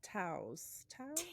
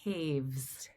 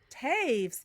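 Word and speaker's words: Toews: And All My Puny Sorrows by Miriam Ta. Taves. Taves. Got that completely wrong. Sorry. No, I know. It's an unusual pronunciation of that collection of letters.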